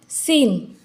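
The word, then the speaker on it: scene: pronunciation नहीं होता है सीन सीन में सी साइलेंट होता है साइंस एी आई सी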